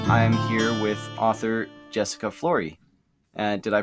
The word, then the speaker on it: Flory: here's the interview I'm here with author Jessica Flory and did I pronounce that correctly it it doesn't look like